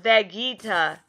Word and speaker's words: Vegeta: hey I just lost my spot uh-oh it's pronounced Vegeta or okay my bad uh uh-huh taking a